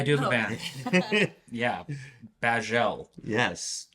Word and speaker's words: Bajzelle: Bajel. Yes. Which is like bagel, but it's not really.